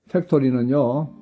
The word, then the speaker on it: factory: 팩토리는요, 팩토리는 F 발음입니다.